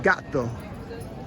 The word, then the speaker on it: gatto: So the double consonant in Italian has a little bit more emphasis. Gatto, put a little bit more emphasis on that T to pronounce it properly, as opposed to gatto. So gatto would be one T, gatto would be two. It's a fraction of a second difference in pronunciation, but it makes a huge difference in the meaning of the word.